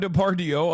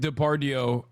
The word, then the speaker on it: Depardieu: I said Depardieu. That was a very Turkish moment. Gerard Depardieu is how you say it in Turkish.